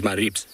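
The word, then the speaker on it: Maribye: to say it is maribs which basically is m a r i b s is how you pronounce it but it is spelt m a r i b y e so we now dub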